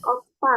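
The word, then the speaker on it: 오빠: Dia kan pakai P ya, bacanya pa bukan ba. Pakai P tapi pakai 2b ya teman-teman ya. Jadi ini bacanya opa.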